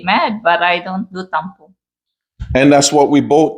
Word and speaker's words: tampo: Am I saying it right, tampo? Yes.